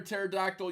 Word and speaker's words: pterodactyl: Why can't you hear a pterodactyl use the bathroom? Because the P is silent.